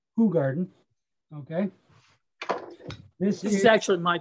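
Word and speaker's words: Hoegaarden: I know most people are, because of their American pronunciations, they're gonna call it Ho Garden, but it's actually pronounced Who Garden.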